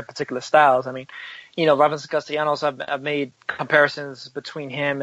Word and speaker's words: Castellanos: You don't pronounce L. How do you pronounce that again, Lim? Castellanos. Castellanos. Not Castellanos. You pronounce it like it's a Y, like it's a Y sound.